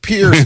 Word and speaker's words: Pierce: It's pronounced Pierce. The last name is pronounced Pierce. Stop saying that. It's the Pierce household, not the piss household.